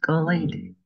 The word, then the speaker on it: Kalady: It's pronounced Kalady.